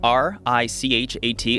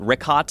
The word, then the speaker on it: Richat: Yeah, the Richat, R-I-C-H-A-T. It's worth mentioning he's that. Got it already here. Yeah, in the first couple, I just want to say it's Richat. I used to call it Ricot.